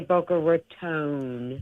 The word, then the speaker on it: Boca Raton: Did I pronounce Raton, or is it? Yeah, that's right. They actually insist that you say Boca Raton.